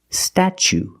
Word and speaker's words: statue: second or third syllable the t is pronounced CH like chicken and change chch so pronunciation statue statue for the first vow we use the short a like black cat sta then we use the CH sound stat statue for the second syllable we use a long o like Boot and Moon ooh together statue this is the Statue